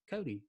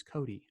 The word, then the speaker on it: Coti: So then prior to me going live, you were like, hey, my name is Coti. And I was like, oh, that's not what I thought.